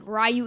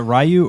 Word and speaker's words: Ryu: just like is it is it Rayu or Ryu? Ryu Ryu. I always said Rayu. Ryu is like a new thing to me. But maybe I've always said it wrong. I I think it's Ryu. I mean we watched that video on that website that YouTube site and like eight out of 10 people said Ryu and a couple said Rayu.